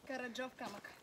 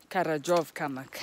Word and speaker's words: Karadzhov Kamak: How do you pronounce his name? Karadzhov Kamak. Karadzhov Kamak. I've been told just the name and then rock after it.